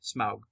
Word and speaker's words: Smaug: But it's to me, it's always Smaug because in German they say Smaug as well. It's because it's AU is pronounced ow.